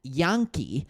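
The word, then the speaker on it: Janke: And according to reports, Houston has signed wide receivers Jaden and Jackson Yonke, is how it's pronounced.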